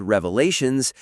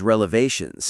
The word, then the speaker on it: revelations: And then like a second later, they're mocking her for mispronouncing the word revelations as relevations.